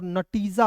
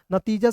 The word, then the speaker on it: नतीजा: यदि मान लीजिए आप टी का प्रयोग कर रहे हैं तो नटीजा हो जाएगा। नतीजा शब्द होता है। नटीजा कोई शब्द नहीं होता है दोस्त मेरे।